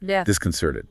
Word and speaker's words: disconcerted: Do say the stress is on sir. Like the in her disconcerted.